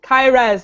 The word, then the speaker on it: Kairas: Kai-res, like if you were playing Like an high-res. MMORPG, and it's like, hey Kai, res me. Oh. Nice. So like high-res, Kai-res.